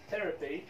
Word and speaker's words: therapy: ثم كلمة therapy therapy therapy therapy therapy يكاد لا ينطق هذا شو معناها علاج therapy يكاد